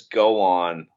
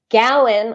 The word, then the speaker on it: Gowan: How often does Go On perform the national anthem? Am I pronouncing his name right? No, you're not. Gowan, I think is who you mean to say.